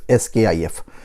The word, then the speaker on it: SCIF: तो sensitive कंपार्टमेंटेड information facility, SCIF, इसको हम प्रोनाउंस करते हैं SCIF, SKIF।